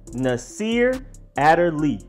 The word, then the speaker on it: Nasir Adderley: ago then their safety Naseer Adderley Nasir Adderley not in the sheer not in desire and not utterly it's a Turley Nasir a de lis